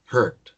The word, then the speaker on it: heard: Here es el verbo escuchar y el pasado se pronuncia heard. Imagínense una J, una E, heard, una R y una D, heard. Pero la D tiene que sonar, ¿no?